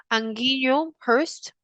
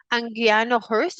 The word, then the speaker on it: Anguiano Hurst: Et Rose Anguillo Hurst, je pense que que j'ai bien prononcé votre nom, so Anguiano Hurst.